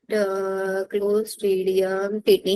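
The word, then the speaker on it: Clostridium tetani: एक सेकेंड रुको, स्पेलिंग लिखने का देखता है। मैम मतलब टिटनेस एंटीबैक्टीरियल डिसीज है। क्लोस्ट्रीडियम टीटनी, हाँ ये होता है।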